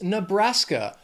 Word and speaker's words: Nebraska: Near there is Nebraska. 3 syllables, stress is also on that 2nd syllable. Nebraska.